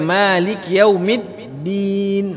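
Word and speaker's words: مالك يوم الدين: Anda dapat mati baik Malikiyaumiddin ini juga ketika kita baca memiliki yaumi bariskan baris bawah dengan sempurna memiliki yawme jangan hebatnya Malikiyaumiddin Tapi bacanya Maliki yaumid diin hemic coba diperhatikan ayat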